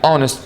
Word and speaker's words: honest: or no like for example an hour an honest man an honorable man but when i say